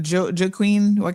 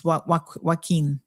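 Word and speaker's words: Joaquín: I was pronouncing what Joe Queen it's waqin.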